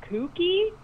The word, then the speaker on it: Cookie: There's dolphins in this, and one of them's name, the subtitle says Cookie, but they pronounce it Kookie, so I'm not really sure.